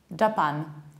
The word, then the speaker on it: Japan: And another one, the one that is usually pronounced like Japan, and it's Japan, Japan. So you need to stress the second syllable, not the first one. Japan, J, you reduce the beginning, Japan.